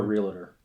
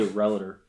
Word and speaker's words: realtor: Some say relator. Yeah. Anybody listening, specifically Michigan realtors, that's the proper way to say it.